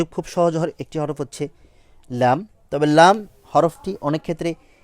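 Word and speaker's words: لام: যে তালু যে অংশটা, সেই স্থান থেকে লেগে উচ্চারিত হবে লাম, লাম, লাম, লাম, এভাবে উচ্চারণ করব।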